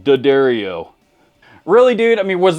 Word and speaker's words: D'Addario: Not D'Addario, it's pronounced D'Addario.